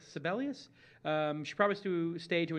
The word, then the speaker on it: Sebelius: So Kathleen Sebelius, is how you pronounce it? Is that right? Sebelius. Sebelius.